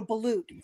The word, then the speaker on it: balut: it it's spelled ba a l u t balute that's what it is yes it's called a ballute thank you it's disgusting it's ballute that's the